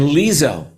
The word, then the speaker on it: Lizzo: company Ed Sheeran and lizzo um am I pronouncing that right Lisa lizzo lizzo lizzo yeah she's gonna be headlining